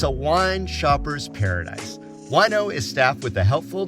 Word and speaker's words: Wineaux: Wino, that's spelled Wineaux, is the latest rage for wine lovers and the vino curious around the valley.